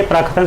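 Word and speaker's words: प्राक्कथन: फिर प्राकथन, अगर आप इसका उच्चारण करेंगे तो देखेंगे इसमें आपके दो का निकल रहे हैं, प्राक आधा का कथन, तो इसलिए प्राकथन सही हो जाएगा।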